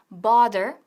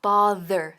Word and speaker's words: bother: Cuidado con la pronunciación porque no es bother ni bother, sino bother, bother.